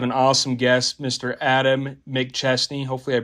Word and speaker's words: McChesney: and we have an awesome guest Mr Adam Mick chestney hopefully I pronounced your last name correctly yes sir by